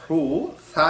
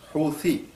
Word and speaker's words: হুথি: এই উচ্চারণটা সায়ের উচ্চারণ যেহেতু বাংলাতে নাই, সেই কারণে অনেকে এটাকে হুসি মানে দন্তা স দিয়ে বলছে, কেউ ছ দিয়ে বলছে হুসি, কেউ আবার হুথি বলছে থ দিয়ে। কারণ ইংরেজিতে সায়ের উচ্চারণ টিএইচ, তো টিএইচ এ থা হয়, সেই কারণে অনেকে আবার বলছে হুথি, অনেকে আবার হুদি।